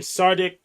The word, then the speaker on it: Tsadik: So, it goes uh, hope I pronounced this correctly. Sardic. Yeah, you got Sardic.